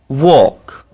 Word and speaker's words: walk: could, should, talk, walk, walk, half, salmon, salmon। तो आपने इन मिसालों में देखा कि एल कैसे साइलेंस हो रहा है, ठीक है, एल को हमने ड्रॉप कर दिया।